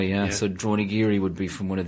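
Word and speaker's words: Dronagiri: So for the cabins and for accommodation, the website is droneyiri.ie. We're also on Instagram or Facebook. Spell that is it phonetically?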